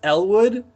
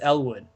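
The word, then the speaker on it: Eliwood: hold on a second, did you just pronounce the I in Elwood? And it. they're like, yeah. Like, what do you mean? What do you mean? What if I just did? Like, that's how you pronounce it.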